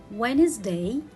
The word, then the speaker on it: Wednesday: this word so let's read the words with silent letter d again wednesday handsome and sandwich so here let's read them